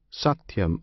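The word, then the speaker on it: satyam: theas adore the true satum alone this satum consists of three syllables one syllable is sa another T the third yam the first and last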